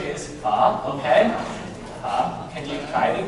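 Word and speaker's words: phở: They usually call it like pho. It has a different meaning. Pho is like the prostitute. Prostitute. Okay, so you don't worry. Okay, so the correct pronunciation is pho.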